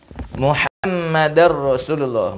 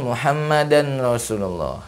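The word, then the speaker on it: مُحَمَّدًا رَسُولُ اللَّهِ: Kemudian Muhammadar Rasulullah, bukan Muhammadan Rasulullah, ya. Walaupun tulisannya Muhammadan Rasulullah, tapi membacanya Muhammadar Rasulullah, ya.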